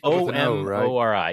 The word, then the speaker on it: Omori: It's spelled with an O. O-M-O-R-I.